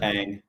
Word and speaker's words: Ang: It's just Ang. Is it? Sure. There's a video of her pronouncing her own name on YouTube. Oh, that's good. And I wanted to know, and it's just like ANG.